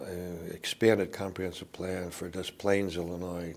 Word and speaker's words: Des Plaines: expanded comprehensive plan for Des Plaines, Illinois. I guess the French would pronounce it Des Plaines.